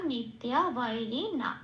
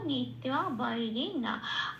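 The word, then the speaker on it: নিত্যবৈরিণা: Second শব্দের উচ্চারণটা সংস্কৃততে কি পেলাম? নিত্যা বৈরিণা। আচ্ছা, তাহলে এই পাঠে সংস্কৃত উচ্চারণ হচ্ছে জ্ঞানীন নিত্যা বৈরিণা।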